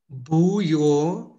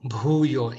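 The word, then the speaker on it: భూయో: Bhuuyoa, Bhuuyoa. Even here, the bar sound.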